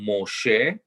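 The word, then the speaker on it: משה: the name of uh moses right that's pronounced moshe um and i'm in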